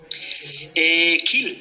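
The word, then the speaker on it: Kiel: cuántos años estás en Kel kil en alemán I y la e se pronuncia I en K estoy desde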